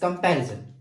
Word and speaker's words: comparison: तो कम, रे और जन, ये इसको जब हम प्रोनाउंसिएट करें तो ये हमारे पास लॉन्गर नहीं जाते, लेकिन जब हम पे को प्रोनाउंसिएट करें तो हम इसको लॉन्गर कर सकते हैं। पे, कम, रे, जन, और पे ये लंबा हो रहा है, तो पे जो सेकंड हमारे पास है, that second syllable is the stress syllable.